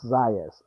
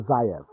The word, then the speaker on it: Zayas: Yes, Zayas. I keep thinking Zayev, but this kid looks to be the goods.